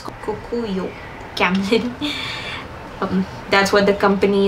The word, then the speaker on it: Kokuyo: projects from this brand called kukuyu this is actually a japanese brand but they um i pronounced that wrong they bought kamlin the indian stationery brand so now it's kokuyo camden that's what the